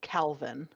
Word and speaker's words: Kelvin: brain the most uh k-e-l-v-i-n pronounced Calvin it's Kelvin but they pronounce it Calvin you're just you're setting